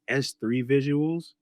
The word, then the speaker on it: SIII Visuals: It's pronounced S3 visuals, but it's spelled SIII, Roman number three, in the word visuals.